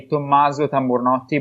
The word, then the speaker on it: Tommaso Tamburnotti: I want you to pronounce it the correct Italian way, Tommaso.